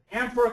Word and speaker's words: amphora: The emphasis goes on the am at the beginning and not the phora at the end, which I, of course,